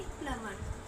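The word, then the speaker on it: plumber: पर उसको हम बोलते हैं प्लंबर नहीं प्लमर प्लम।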